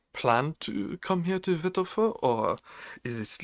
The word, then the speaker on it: Wittlefoot: a w yes yes it's spelled with a W but it's pronounced in German so v v sound effect every time loka